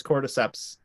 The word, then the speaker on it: cordyceps: okay here's a question can anybody pronounce the name of the fungus like core decisions oh that's it I'm pretty sure it's cordyceps yeah and and so